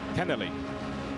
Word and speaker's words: Kennerley: I'm pretty sure it's Kennerley. Kennerley. But Cannerley's all right too.